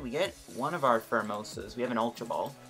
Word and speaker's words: Pheromosa: Pheromosa. Yes, I am right. Okay. I can never pronounce that thing's name.